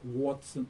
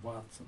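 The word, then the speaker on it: Watson: И доктора зовут Уотсон, а не Ватсон, как мы его окрестили.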